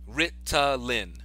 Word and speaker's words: Ritalin: Ritalin. Even though when I pronounce it, it sounds like I have a D in there, but that's just how I pronounce things.